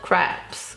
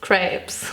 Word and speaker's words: crepes: feel so self-conscious about the way i pronounce craps crepes i'm just gonna say it the french way the original way now crepes maybe like